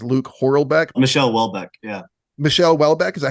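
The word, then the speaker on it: Michel Houellebecq: your name is Luke horlbeck Michelle Welbeck yeah Michelle Welbeck is that how you say it yeah okay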